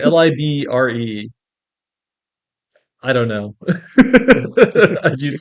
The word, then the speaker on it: LibreOffice: it's Yeah, Libra. Libre. LibreOffice? Libre. It's Libre.